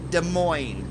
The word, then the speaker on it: Des Moines: Alright, and just a reminder, the proper way to say the capital of Iowa is Des Moines. You do not pronounce the S in Moines, it's Des Moines.